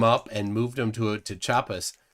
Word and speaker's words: Chiapas: Yeah, he's in Chiapas, Mexico. Chiapas, yeah. It's spelled like Chia Pet, ChiaPas. Oh, Chiapas. Yeah, they call it Chiapas.